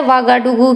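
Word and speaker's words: Ouagadougou: और अगर बात करें बुर्किना फासो की लोकेशन की, तो ये है बुर्किना फासो, जिसकी जो कैपिटल है उसको प्रोनाउंस किया जाता है वागाडुगु के रूप में।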